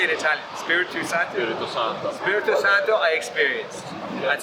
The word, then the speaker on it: Spirito Santo: Spirito Santo.